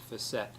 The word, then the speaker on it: facet: the facet joint face1 a say facet most people pronounce it Fassett and these facet joints